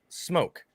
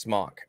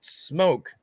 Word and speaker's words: SMOK: It's pronounced smock. I'm like, no, even the website will tell you it's pronounced smoke as if it had the E there.